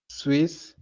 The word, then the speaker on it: Suisse: Suisse. Is E pronounced? It's not pronounced. So how are you supposed to read it? Swiss.